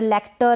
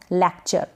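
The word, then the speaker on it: lecture: लेक्चर, लेक्टर ऐसे करके ना पढ़ें, लेक्चर।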